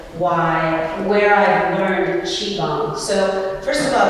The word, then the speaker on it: Qigong: from where I've learned chiong. So, first of all, it's pronounced chi when you see the Q and the I together, it makes it sound like chi, like cheese, but take the S and E off that.